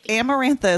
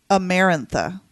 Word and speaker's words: Amarantha: Amarantha is the correct pronunciation.